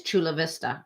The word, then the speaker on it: Chula Vista: Yeah, it is Chula Vista, right? It's kind of said phonetically, which is strange, California.